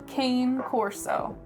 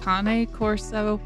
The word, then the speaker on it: Cane Corso: you are too small the correct pronunciation of this dog breed is Kane Corso I do know that but most people in America know this beautiful dog as the Cane Corso 3.5% Australian kelpy you